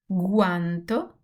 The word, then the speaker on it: guanto: So if G, the letter G is followed by A or U or H, we will have a hard sound. I will have the sound like G, like go, good, or garage.